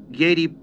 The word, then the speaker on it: Giedi: The word is pronounced as it is spelled. Giedi.